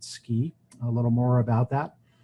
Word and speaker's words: SCI: Computing and imaging Institute the acronym is Sci and we pronounce it ski a little more about